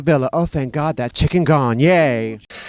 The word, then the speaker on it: chikungunya: First of all, it's pronounced chikungunya, and it means It's not chikungunya.